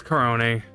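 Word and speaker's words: Korone: Aruren Arunu and then Corone. It's Corone.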